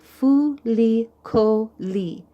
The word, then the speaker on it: Fuli Koli: So like this, for example, Chief Fuli Koli, and it'll say here, Fuli Koli. It tells you how to pronounce it.